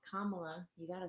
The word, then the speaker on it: Kamala: It's Kamala. You got to say it right. Kamala.